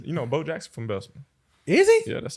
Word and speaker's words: Bessemer: You said it right, Bessemer. Bessemer, yeah.